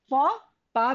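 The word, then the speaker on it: faux pas: hotp okay then this is for this is pronounced as for PA means a blund okay take for example a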